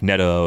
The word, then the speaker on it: Neto: Should like it Vito, be right? Neto? You rhyme with Vito. I would have guessed Neto initially, but it's Neto apparently. So we're living with it.